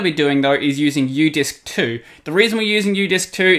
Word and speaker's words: Udisks: It has an S on the end, though, so Udisks.